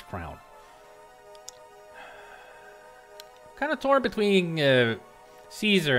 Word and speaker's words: Caesar: kind of tore between Caesar and scarlet or kazar if you want to pronounce it correctly in Latin ties are or scarlet